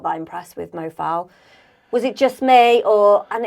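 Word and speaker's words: Mo Faal: Mo Fowl?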